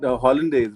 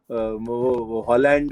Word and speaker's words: hollandaise: from outside like a hollandaise right the sauce so the most common punjabi pronunciation that i get is holland is there another hollandaise